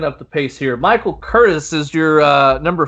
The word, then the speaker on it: Curtiz: Michael Curtiz. I always say it wrong. I do. Mom said say it how it's spelled, and I did, and I was wrong.